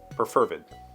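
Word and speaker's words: perfervid: Roland sent to Jermaine preferred p-e-r-f-e-r-v-i-d that is a freaking great word and I've never heard it uh and according to this pronunciation key the emphasis is on fur so preferred interesting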